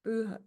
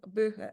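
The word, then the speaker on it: Buche: from beach trees bua in German which is pronounced buha buha I think in English the name for such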